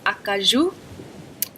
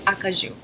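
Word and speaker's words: Acajou: actual French pronunciation so first color is a kazoo a kazoo and if you just want dancing cause you you can say occurs you occurs you second is noise it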